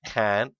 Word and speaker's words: HCANT: I'm playing with CMB Minecraft and another friend called Can, which is HCANT. For those of you who wondered why that pronunciation is so weird, that is in fact how you pronounce the HC at the start.